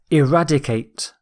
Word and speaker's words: eradicate: Our final word is eradicate. Eradicate. The stress is on rad.